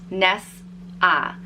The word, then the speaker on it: Nessa: of other Irish names this one is easy to pronounce it's exactly as it's spelt Ness ah Nessa and the reason I